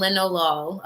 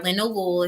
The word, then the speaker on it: linalool: However, if you're wondering real quick before the dispensary closes what terpenes you need to get, limonene and linalool, okay, or linalool if you like to pronounce it like that.